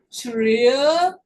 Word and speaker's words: treasure: Treasure, treasure, treasure. Detalhe, nenhuma palavra terminada com E é pronunciado em inglês a letra E. É chamado do E silencioso, quando ele está absolutamente no final. Não é, nem conhece, você